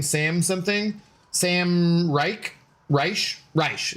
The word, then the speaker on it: Reich: It's Rash, I think, is how you pronounce it. You probably understandably like you wouldn't want to uh unfortunate last name. Yeah, I think you I understand why you wouldn't want to pronounce it like Reich.